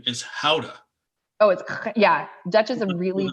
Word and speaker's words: Gouda: The correct pronunciation is Gouda. Oh, Dutch is a really terrible language. Gouda. Yeah. Like Vincent van Gogh. Yes. Yep. Yes. So I was like, what? It's not Gouda? No. Gouda.